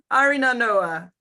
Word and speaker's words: Arinarnoa: Can you tell us a bit about, I'm doing a terrible job with pronunciation. It's not only you, it's for everybody has that problem. Arinarnoa. Arinarnoa, right?